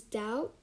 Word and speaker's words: doubt: word we have is doubt um it's d-o-u-t when you pronounce it but when you write it it's d-o-u-b-t okay so moving on